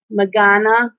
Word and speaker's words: Magana: It's pronounced Magana. Okay. She said she likes it the way I say it.